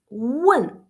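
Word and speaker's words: 问: If you pronounce when, so that means to ask, okay?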